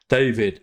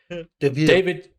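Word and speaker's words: Deivid: Chessie for David Washington David David I mean it's a David that's spelled d-e-i-v-i-d which might be no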